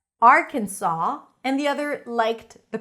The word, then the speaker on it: Arkansas: Arkansas, more rounded, or Arkansas, more open. The S is not pronounced, but there's an interesting story behind it, and I'm going to tell you that.